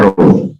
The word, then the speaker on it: rho: Rho itu nulisnya bukan huruf P tetapi ini itu ya, rho, bacanya rho ya.